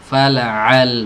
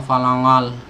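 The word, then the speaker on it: فلعل: Fala'al, bukan fala'al. Ya, bahkan ada yang berlebihan masuk ke hidung semua, falangal, pakai huruf ang, falangal. Ya. Ini salah, fala'a.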